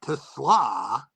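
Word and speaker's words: TeSlaa: The Lions rookie receiver has been asked about this countless times, guys, and it is Tesla with the accent on the second syllable, not like the automobile. Just think coleslaw, Tom.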